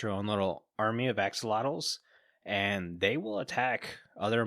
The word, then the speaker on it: axolotl: say excellent i heard some people call it oxolotl but every time i see it like the pronunciation written they say axolotl so i'm calling the axolotl it's hard to